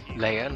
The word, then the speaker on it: Leia: Leia, not Leah.